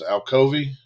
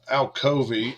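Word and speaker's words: Alcovy: out carrollton has and i would say this is alcovey um just saying it how it's spelt uh looks like the missouri tiger head gear but uh al kovy is a team and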